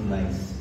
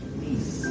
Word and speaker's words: niece: It's not nice, it's niece. Niece? What? Who's niece? Not anyone's niece, but niece.